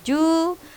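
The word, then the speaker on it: 十: kyu atau ku, 10 ju, 100 hyaku. Nah, 11 ju ichi, 34 san ju yong. Oke. Sudah dengarkan cara bacanya? Nah, di sini ada yang bunyi panjang ya. Untuk Q dan Ju dibunyikan panjang.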